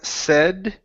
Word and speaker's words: said: uh next is um said right here instead of s okay this this uh AI in this word is a short e sound the word is said said very good next